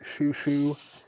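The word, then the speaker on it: Xiu Xiu: That's Xiuxiou. Pronounced Shushu.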